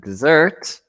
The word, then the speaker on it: dessert: Okay, desert is when it's with one S is like a place. Right? Place. Okay, so just be Yeah. careful with your pronunciation. And dessert, double S, Is sweet.